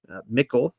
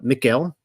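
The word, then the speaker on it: Michal: the city of David michl and hopefully pronouncing her right it's kind of like the feminine of of Michael uh Mikel the daughter of sha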